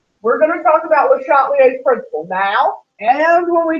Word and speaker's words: Le Chatelier: Le Chatelier. He's not Le Chatler, even though next week y'all are all going to say, oh, that's not Le Chatler. He's pronounced Le Chatelier.